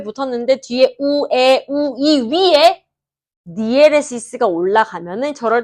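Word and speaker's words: diéresis: 이거는 약간 우리 학습을 위한 발음이고 원래는 디에레시스라고 읽거든요. 디에레시스는요.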